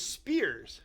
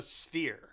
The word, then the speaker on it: sphere: appreciate that but those Spears no they're not a spear because that's not pronouncing right it's a sphere a sphere a sphere